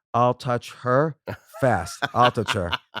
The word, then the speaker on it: Altucher: but the real way to pronounce it is I'll touch her fast.